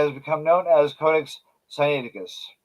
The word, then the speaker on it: Sinaiticus: become known as codex scienticus now it's usually pronounced by Americans but it should be sunny inigas anyway he released a